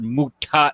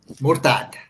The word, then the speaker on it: Murtad: Hey, not Muta. Muta. Come on, man. No, not Muta. Muta is temporary marriage, man. Okay. Well, my Murted. Murte. Okay. Murtad. Exactly.